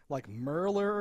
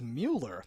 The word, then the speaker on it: Mueller: So, like, fucking, like, he called him, like Merler or something, but it's Mueller. The subtitle said Mueller. Mueller or something. I don't know German, but I'm like, I don't think that's pronounced that way.